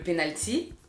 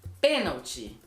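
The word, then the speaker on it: pênalti: Le penalty, on dit penalty, avec la tonique dans la première syllabe.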